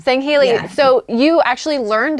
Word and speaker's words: Sangheili: I say Sangheili. Sangheili.